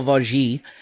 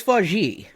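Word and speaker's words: Vaugier: robinson played by emmanuel vogee one moment please you're going to look up her pronunciation no it's forgee okay the dogs just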